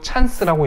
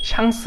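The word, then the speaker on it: chance: 됩니다 샹송 5성 조에 이것도 영어랑 발음만 다른데 영어식으로 찬스라고 잃지 않고 샹스 라고 했습니다 뜻은 영어랑 똑같이 행운이고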